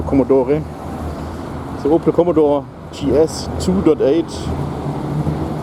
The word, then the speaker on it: Commodore: Opel Commodore, where we are pronouncing the E, so Commodore.